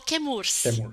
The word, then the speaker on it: Chemours: Pero se decidiu pronunciar que Murs em homenagem à la família do pont de de Murs, não? Que é la família que p não? Então se kemurs, mas se fala kemur em homenagem al apelido de la família, não?